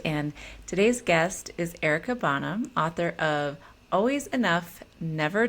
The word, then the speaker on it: Bonham: Bonham, but yes, it's Oh, Bonham, and you totally got it.